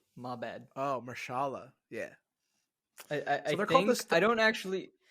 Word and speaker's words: Mahershala: Also, I mispronounced his name. It's Mahershala Ali. My bad. Oh, Mahershala.